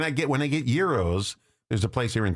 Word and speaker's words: gyros: Well, yeah, the the gyros and uh we have And it's not gyros, it's gyros.